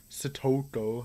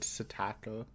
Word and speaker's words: Satoko: Satoko, I almost went back to my old Satako.